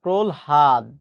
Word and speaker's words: প্রহ্লাদ: প্রহ্লাদ শব্দের সঠিক উচ্চারণ হচ্ছে এটা। প্রহাদ।